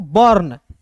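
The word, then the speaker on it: burn: है दोस्तों कि यदि यू के बाद आर रहेगा तो यू का उच्चारण नहीं करेंगे और आर का मतलब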